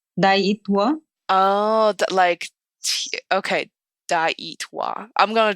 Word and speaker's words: Daayitwa: Daayit, like tea. Daayitwa.